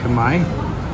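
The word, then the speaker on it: Khmer: pronunciation we just asked the waitress how to pronounce k h m e r I said time is actually Kamai yeah way off now we know so these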